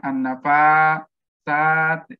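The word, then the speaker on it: النفاثات: Dari segi pengucapan an-nafasat, cepat ya, tidak ada sekat di situ, tidak ada apa namanya an-nafasat ya, sehingga artinya apa tuh?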